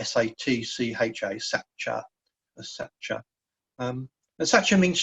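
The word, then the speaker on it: sacca: a sa JJ a is pronounced something like sa TCH a Sacher Isetta such a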